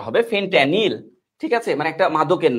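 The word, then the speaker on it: fentanyl: ফেনট্যানিল এরকম নাম উচ্চারণটা হবে, ফেনট্যানিল।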